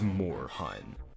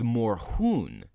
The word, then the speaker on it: Moorhuhn: for his name is 'more hoon seeing as this is a German video game character we're talking about I suppose that's the